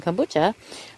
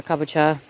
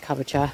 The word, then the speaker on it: kabocha: And then I'm going to plant some kombucha, or kabocha. I'm a bad Japanese kid who always forgets how to say this, but I think it's kabocha.